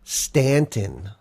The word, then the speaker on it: Staunton: Camera Museum here in Stanton. I think you had to sound that out. Well, no, because if you read on, it says here in Staunton. Oh, they pronounce it Stanton. I got you.